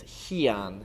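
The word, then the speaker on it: Heian: They're still done in Tangudo and we call them pyongan which is very similar to the Okinawan way of pronouncing it which would be pin and in Japan they usually refer to them as hian.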